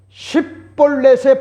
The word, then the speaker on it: 쉽볼렛: 길르앗의 사람들은 싯볼렛이라고 하는 것 같은 발음을 정확하게 할 수가 있었지만은 에브라임 사람들은 싯볼렛의 발음은 안 되고 십볼넷으로 발음을 하여 하는과 같은 차이를 발견하게 되어 조언을 했던 겁니다.